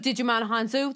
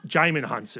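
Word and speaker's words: Djimon Hounsou: I actually, the underuse of Digimon Hanzo, that guy's amazing. Did I say his name wrong? Yeah, you did. Jaimin Hansu.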